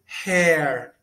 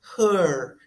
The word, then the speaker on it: her: Tem muita gente que no início pronuncia hair, com o E aberto. Hair aberto é cabelo. Então se preocupe em não pronunciar hair. Se pronuncia her. É o schwa em inglês. Her.